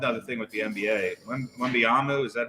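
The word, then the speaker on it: Wembanyama: One other thing with the NBA, Wembyama, is that how you say his name?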